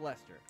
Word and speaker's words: Leicester: And yes, it is pronounced Leicester.